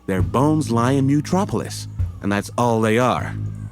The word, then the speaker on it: Mutropolis: I don't know what I pronounced it like in the beginning, but it's Mutropolis.